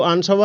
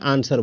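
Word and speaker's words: answer: एन एस डब्लू आर इसको आंस व नहीं बोलते हैं आंसर बोलते हैं है ना इसमें देखिए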